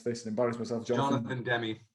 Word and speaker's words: Demme: a 1991 movie directed by, I'm going to mispronounce this and embarrass myself, Jonathan Demme. Demme, thank you, because I was not going to say it that way, so I'm glad you bailed me out.